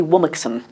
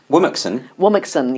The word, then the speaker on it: Womxn: Apparently it's meant to be Womixen. Womixen, yes. I don't know if it is. I thought it was Remixen. It doesn't matter. No one can pronounce it.